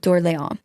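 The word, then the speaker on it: Orléans: Okay, so even Phipe Duke Doron, it's spelled like Orleans. Like this is where the word Orleans comes from, but he was the Duke of Orleans.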